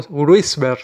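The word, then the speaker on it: Wrisberg: Es un embole explicarlo cómo se escribe eso, pero está. Como Gruisberg se pronuncia.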